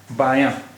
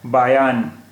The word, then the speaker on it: बायां: अब देखिए, यहाँ भी अगर नून गुन्ना में बिंदी होती तो ये नून गुन्ना नहीं रहता, फिर ये नून हो जाता, और जब ये नून हो जाता तो इस शब्द का उच्चारण होता बायान, बायान हो जाता फिर इसका उच्चारण। लेकिन अभी ये है बायां, क्योंकि यहाँ नून गुन्ना इस्तेमाल हुआ है, बायां।